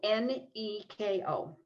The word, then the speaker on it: Nico: So it's Anastasia, like you would normally spell it, and then her last name is Nico, Neko. Or at least, I don't know if that's her last name, but it's.